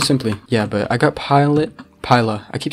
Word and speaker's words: Piluh: It's Piluh, it's not Pila or Pila. I mean, I thought it would be pretty easy to pronounce, because it's just, yo, how's the skin moving? You know what, I'm not even gonna question it. I thought it'd be pretty easy to pronounce, because it's just like pi and then la. If it was Pila, it would have two L's, right?